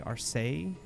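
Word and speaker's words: Alseille: takeoff there's more okay I've always pronounced that our sale I've also heard people say are say in America will do our sale that seems fair I've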